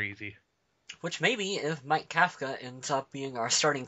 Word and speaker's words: Kafka: Somehow managed to correct Adam that it was pronounced Kafka.